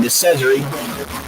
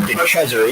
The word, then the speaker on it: De Cesare: He did, however, pronounce his name in a way that I kept saying De Cesare, because I know a